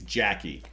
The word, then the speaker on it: Jackie: I said. It's Jackie.